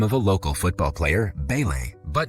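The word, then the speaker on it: Pelé: Deco also tries to join their conversation and takes the name of a local football player, Pele, but mispronounces it as Pele.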